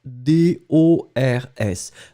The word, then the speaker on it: dors: So, as you can see now, you've got the first person, je dors, D-O-R-S. Remember, final S, we don't pronounce it, so je dors, I sleep.